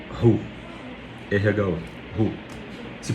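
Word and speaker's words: ῥῶ: Essa letra se chamava ru.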